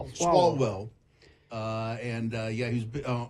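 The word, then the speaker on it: Swalwell: Salwell. Swallwell.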